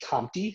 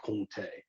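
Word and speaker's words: Comté: spelled like it would sound like it'd be compti c-o-m-t-e but they pronounce it and i love kunte we get an older one during the christmas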